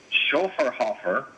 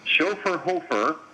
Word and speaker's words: Schöfferhofer: so our beer today has multiple pronunciations so depending upon who you believe i'm going to go with the one i believe the brewery is called chauffeur hoffer or chauffeur hofer or shaffer hofer screw you up